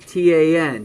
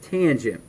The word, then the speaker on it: tangent: Remember not to pronounce that T-A-N. Don't pronounce that tan. Pronounce that tangent.